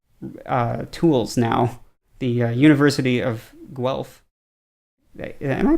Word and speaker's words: Guelph: they are creating tools now the University of Guelph am i pronouncing that right they're really Guelph it sounds